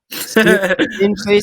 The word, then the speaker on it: Stingley: I think it's pronounced Stingley, but I'm not sure. I wasn't sure. Yeah. Stingley sounds like stingy, and he is a stingy defender.